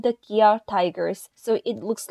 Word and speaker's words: Kia: company's factories in guangzhou in korean the pronunciation of the english word gear and the company name kia are almost the same so he used kia